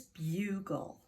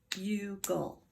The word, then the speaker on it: bugle: This is open. The U is long. There's nothing shutting the door in that syllable. If it was, it would be bugle. Bug-o.